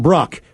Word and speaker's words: Bruck: That from Bruck. Pronounced like truck, but with a B.